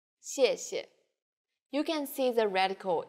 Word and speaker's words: 谢谢: The tone in the first syllable is the fourth falling tone. 谢. And the second syllable is the neutral tone. 谢. Altogether, 谢谢.